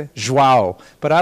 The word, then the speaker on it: João: And I know I mispronounced everything. It's João, right? Olivia, is that how you say it? João.